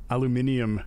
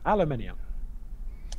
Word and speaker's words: aluminium: you've confused everyone or maybe it's my pronunciation throughout the canadian pronunciation instead of the aluminium i guess is the the british british pronunciation for all of our british fans out there aluminium it's really good for